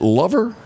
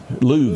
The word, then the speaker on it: Louvre: Oh, they're finally figuring out at that, do you pronounce it Lover? Where the crown jewels and all that were stolen? How much was it? $102 million is what they... Oh, the Louvre. Louvre, that's how you pronounce it?